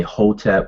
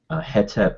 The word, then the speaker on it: Hetep: Um and some people say hotep with a o instead of hetep with a which h e t e p.